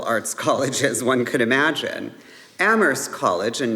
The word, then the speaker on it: Amherst: colleges one could imagine Ammerst College and note that the H is silent was established in 1821